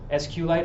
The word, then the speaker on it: SQLite: something called SQL Lite is it SQLite or SQLite huling SQLite is the proper pronunciation ok sorry s-cube lights all right so this